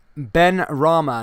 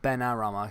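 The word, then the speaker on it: Benrahma: i don't think uh ben rama not ben arama sorry ben rama sorry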